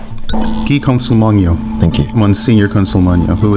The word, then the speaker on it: Guy Consolmagno: Guy Consolmagno.